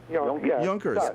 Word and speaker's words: Yonkers: Yonkers okay the tradition do you know what the traditional and the original pronunciation of the city's name is uh York no no no no and we'll get to that Miss Patty think joners what Yonkers yunkers because which means young hair young heirs uh